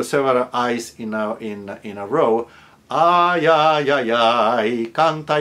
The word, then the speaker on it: ay: Now, when the Y is at the end of a syllable, as in ay or caimán, then it's a different story. That's an I sound. As in the word hoy, today, or I, like when you complain, ay.